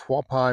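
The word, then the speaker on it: Hualapai: The H is kind of Ha. So, it's Huai Mountains.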